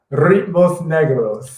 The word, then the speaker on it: Ritmos Negros: Ritmos Negros. How you spell it? You got to spell that. You got to roll the R's.